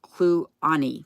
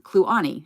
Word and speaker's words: Kluane: Yes, it's Clune, or I'm not sure how you say it. Kluane National Park. Then it's pronounced Kluane. Kluane.